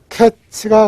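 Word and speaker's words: קץ: 그리고 끝 종말을 가리키는 낱말은 캐츠입니다. 그러니까 하나님이 카이츠를 아모스에게 보여주셨어요. 그러면서 캐츠가 가까이 왔다.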